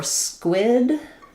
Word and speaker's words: squid: Um so for squid um the q is is a qu sound. The letter i is an i sound.